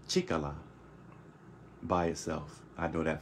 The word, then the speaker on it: 力: pronounced bold by itself by itself this is pronounced chicola by itself I know that for a fact